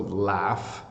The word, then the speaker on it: laughs: boy is laughing so laughs is definitely an F sound using gh so when you tell